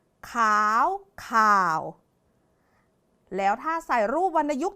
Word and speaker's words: ข่าว: ว่า ขาว นะ คะ เมื่อ ใส่ รูป วรรณยุกต์ เอก ต้อง จะ กลาย เป็น คำ ว่า ข่าว ขาว ข่าว แล้ว ถ้า ใส่ รูป